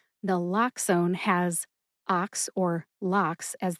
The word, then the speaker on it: naloxone: Nal like Nala from Disney's The Lion King. Nlloxxone. Nala. Ox like the animal ox. And own as in I own the microphone that I am talking into right now. Put all three syllables together and you get nlloxxone.